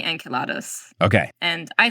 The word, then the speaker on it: Enceladus: talk to Dr Moya so the Greek is the accents on the second syllable and us is a Roman ending so I think they took the romanization of it first but um the original Greek is Enos and so Roman would be enkelados okay and I say